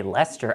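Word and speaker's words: Leicester: wants you to say Lester I mean I'm sorry I already broke that one yeah it's Lester I was I've been to Lester so I know it's Lester that's hey Ryan Worster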